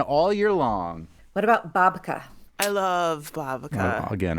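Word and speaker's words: באַבקע: So there's a Yiddish babka, so the English word is spelled B-A-B-K-A. The Yiddish word B-A-B-K-E, also pronounced babka, is the word that refers to a sweet bread that contains a filling.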